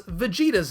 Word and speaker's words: Vegeta: His name is a modified shortening of vegetable, which we don't typically pronounce vegetable, but the name is modified with that same extended vowel, which is why we don't call him Vegeta.